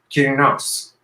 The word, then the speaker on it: Kirinos: So Kirinos. Am I saying it correctly? Yes, it's great. I think it's the EOS that's throwing me off a little bit, and I'm just swallowing the E a little bit.